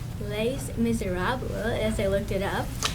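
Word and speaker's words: Les Misérables: And our musical this year, forgive me, I pronounced this wrong, but it's pronounced Les Miserables, as I looked it up.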